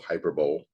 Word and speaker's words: hyperbole: danger of hyperbole um High Beverly is spelled hyperbole if you're wondering if you ever wondered what that word was when you saw any hyper pole the word is hyperbole of using language that